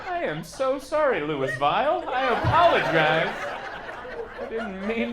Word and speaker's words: Louisville: at Muhammad Ali International, drove through Louisville, and they're like, it's pronounced Louisville! And it was an angry, it was not a polite, like, hey, why don't you try it this way, sir? It was an angry, it's Louisville! And I'm like, I am so sorry, Louisville.